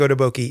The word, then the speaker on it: Otoboke Beaver: looking a second ago this Japanese dude was pronouncing the name and it is odoki beaver too and he actually even screwed it up himself so I think odoki is the correct pronunciation and when they came